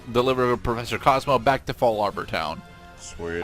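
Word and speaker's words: Fallarbor: Alright, and in the next episode, we will successfully deliver Professor Cosmo back to Fall Arbor Town. Sweet. I know it's Fall Arbor Town, I've always pronounced it Fallabor.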